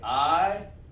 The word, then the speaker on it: Ayalam: Ayalam, and we're going to go over some of the, you say I-ya-lam, like that. Remember we talked about those connectors? That's how you pronounce it.